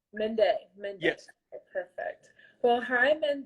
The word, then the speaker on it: Mende: thanks for having me again make sure I'm pronouncing your name right Mende Mende Mende yes perfect well hi men Danny I'm jasmine